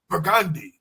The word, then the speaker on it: Burgundy: Burgundy, you know, because even though it's spelled the same way, we say Burgundy.